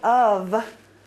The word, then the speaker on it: of: The reason why is because that F sounds like a V. How did you learn how to spell? Or how did you learn how to read? Phonetically. So, of, most people, phonetically.